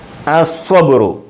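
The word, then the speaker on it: الصبر: വെറും സ എന്ന് പറയരുത്. ഫുൾ വോളിയം ഫുൾ ശബ്ദം. സ്വബുറുൻ സ്വബുറുൻ സ്വബുറുൻ സ്വബുറുൻ അസ്വബുറു കണ്ടോ അലിഫ് ആ ലാമുണ്ട്. ഈ ലാമിന് ഉച്ചാരണമില്ല. ലാലീലു എന്ന് പറയത്തില്ല.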